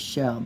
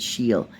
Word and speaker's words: Scheel: I think I said her name was Shell, but I think she said Sheel.